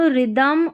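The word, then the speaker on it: rhythm: जैसे देखिए RH, राइम, रिदम, और यह राइनोसॉर्स, यहाँ पर क्या है, H साइलेंट है। जब भी RH साथ में आए, RH साथ में आए तो H हमारा साइलेंट रहता है।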